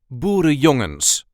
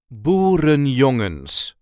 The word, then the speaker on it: Boerenjongens: This is how we say Boerenjongens. Boerenjongens. As you can hear, I do not pronounce every single N in there, and that is totally fine. There is a slight emphasis on the third syllable.